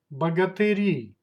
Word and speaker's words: богатыри: Plural, богатыри, богатыри. Stress goes to the last syllable. Богатыри.